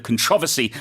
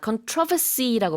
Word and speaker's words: controversy: 그리고 지금 선생님과 저는 둘 다 controversy라고 발음을 하지만 북미권에서는 controversy 이렇게 발음하나요? I always get confused. 그러니까 악센트가 좀 달라요. 네. 네, 그래서 그 강세가 좀 다릅니다. 그러나 둘 다 가능한 발음이라는 거.